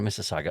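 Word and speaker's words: Mississauga: University of Toronto Missaga.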